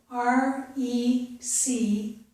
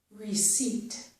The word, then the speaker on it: receipt: The first one is is a very common word, the word receipt. It is spelled R-E-C-E-I-P-T, but we don't pronounce that letter P. So this word is receipt, receipt, okay?